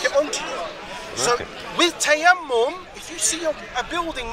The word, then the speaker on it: tayammum: So what the scholars said, there's something called tayammum. Can you pronounce it for me? Tayammum?